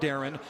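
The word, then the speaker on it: Darian: Dev yeah spelled like it's Daren but no pronounced Darren last six years at Drake NCA tournament bids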